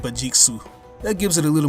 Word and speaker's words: Vegeks: Now the name Vegeks is the westernized enunciation of saying it. If you want to say the name in its purest Japanese form, it's pronounced Vegeksu.